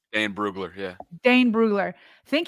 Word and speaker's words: Dane Brugler: Dane Brugler, yeah.